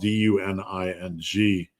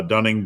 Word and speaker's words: Duning: Their names were Duning spelled Du N I N G. And uh Dunning Duning, you can pronounce it two ways.